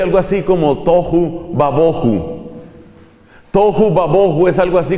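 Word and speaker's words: תֹהוּ וָבֹהוּ: La expresión hebrea se pronuncia algo así como tohu babohu.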